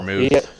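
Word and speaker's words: Freiermuth: And Pat Fear, the rookie tight end, I can't yeah, pronounce his name. He's played yeah, really well. Fryermuth.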